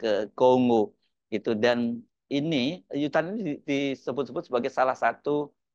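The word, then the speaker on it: U Thant: satunya itu sangat namanya yutan itu atau utan ya bacanya Ya mungkin utan bukan yutan ya tulisannya utan ini seorang diplomat karir dari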